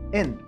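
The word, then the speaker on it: 円: original significa círculo y su pronunciación es en este símbolo también era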